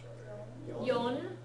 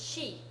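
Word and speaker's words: 四: G for the Times yon one of the pronunciations for four the other is she single character so Y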